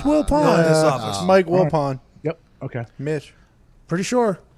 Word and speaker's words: Wilpon: sure it's willpower mike wilpon yep okay mitch pretty sure pal how was the match how do you spell it well pawn that's french as in like the chess piece same way it sounds because he's not a